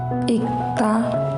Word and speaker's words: 읽다: As for 리을, 기억, 리을, 미음, 리을 is not pronounced. The pronunciation follows the second consonant, like 막다, 막다, 읽다, 삶.